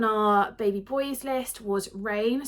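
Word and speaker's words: Reign: The next name on our baby boys list was Rain, so it's spelled R-E-I-G-N.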